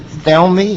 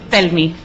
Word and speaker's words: Telmi: Is it Thelmy? It's Telmi.